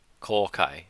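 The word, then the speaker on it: 公開: And it's, how do you pronounce that? Kokai.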